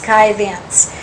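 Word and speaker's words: Scythians: two that would be the ancient sky thens or sketians s c y t h i a n s usually pronounced sky vents they settled north of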